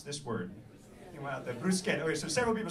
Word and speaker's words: bruschetta: This C-H-E is pronounced K.